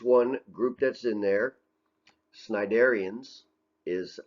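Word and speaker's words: Cnidarians: shot so here's one group that's in there sniderians is how you pronounce that i think this is like jellyfish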